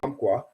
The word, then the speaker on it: Umpqua: Umpqua is what? Okay. I saw your question on Instagram the other day. The way you pronounce Umpqua is Umpqua.